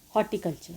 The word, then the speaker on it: horticulture: The next one is the flowering plants, that is horticulture. Here R is silent.